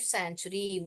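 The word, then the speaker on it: sanctuary: लिखती हूँ board, San, ये सी जो है साइलेंट है। ओके, चुरी, सैन चुरी ऐसे पढ़ने का, सैंचुरी। जो सी है वहां पे साइलेंट है, साइलेंट यानी उसका ध्वनि जो आवाज आप सुन नहीं पाओगे। सैन च, च, टी यू को च, री, ए आर वाई, अरी, सैंचुरी ऐसे बोलते हैं।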